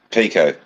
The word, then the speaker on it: Picot: It's Pico. Picot.